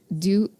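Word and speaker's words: Deux: board where just Heathers do Vegas um and do is spelled D ux like French because there's two Heathers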